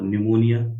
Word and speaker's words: निमोनिया: ऑफ the mucus membrane और निमोनिया इट इ ammonia मत कर देना इसमें पी साइलेंट है है ना इट